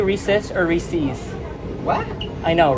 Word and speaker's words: Reese's: say recess or re-seize Reese's I say Reese I say Reese's reasons yeah I say something in between yeah I say recess it rhymes with pieces oh yes pieces yes